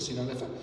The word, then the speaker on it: Sinaloa: esta serie de presentaciones el martes 22 en Sinaloa, así se pronuncia, Sinaloa.